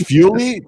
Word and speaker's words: Feole: name to this documentary it's fuelie that's that's how you say it yeah you know